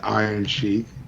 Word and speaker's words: Iron Chic: iron chic like nice spelled like c-h-i-c you know so like chic like that but said like iron sheik you know that's nice